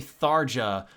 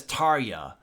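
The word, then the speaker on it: Tarja: pronounce this lady's name I keep trying to say sarja but her name is tarya like God damn it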